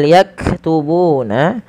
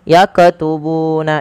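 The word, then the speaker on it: يكتبون: Kemudian pada lafal yakubuna huruf kaf yang berharakat sukun hati-hati di dalam melafalkannya jangan sampai terpantulkan. Contoh yaqtubuna itu memantul.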